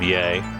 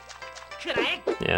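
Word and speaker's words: Yae: During this round of grind, I also started referring to this character as Yai instead of Ye in terms of pronunciation. I'm sure Zara will be happy. Yai just sounds better anyways.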